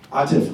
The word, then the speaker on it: Atif: Um, am I pronouncing your name correctly? Atiff. Atiff.